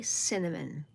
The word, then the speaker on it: cinnamon: I can spell cinnamon but I cannot say cinnamon. Marley sin amen. Three little parts. Let's do it together. Say sin a min.